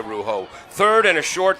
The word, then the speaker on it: Rougeau: It's a Rougeau, not a Rougeau.